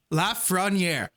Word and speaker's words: Lafrenière: Okay, pronounce fra. Nière. Yeah. Yeah, that sounds good. Lafrenière.